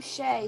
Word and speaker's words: Shay: the sky this is shay bart's mom the name shea sounds like the word shade which is what she